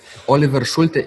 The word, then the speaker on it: Oliver Schulte: everybody uh online or in real world yes Oliver schul is spelled o l i v e r s